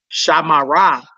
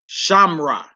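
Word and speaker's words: שמרה: Instead of saying Shamara, you say Shamra.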